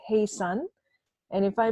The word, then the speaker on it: Haesun: so that's me and my name is pronounced hey son and if I pronounced